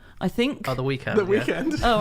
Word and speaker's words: The Weeknd: or why they voted and there's someone called the weeknd i think the weekend the weekend all right well it's spelled yeah so it's felt like weekend anyway